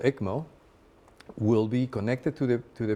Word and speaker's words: ECMO: Am I pronouncing that right? The ECMO.